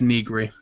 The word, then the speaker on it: Nigiri: It's Nigiri. Oh, see. Oh, Oh. I'm just telling you how to pronounce the name.